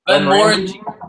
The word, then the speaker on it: Glenmorangie: Glenmorangie.